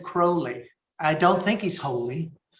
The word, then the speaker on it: Crowley: And he said, speak me Crowley if you think me foully. Speak me Crowley if you think me holy. And I've always said Crowley.